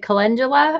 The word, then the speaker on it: calendula: who don't know what is Cullen is it calendula am I saying it right yeah so I